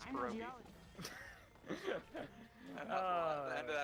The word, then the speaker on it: pierogi: He was saying it pergy. Fergie. All right. Like Fergie? And it was like, it was something like, that's a precarious pierogi or something like that. And he's like, that's a percus pergy. I was like, Steven, it's not how you pronounce pierogi.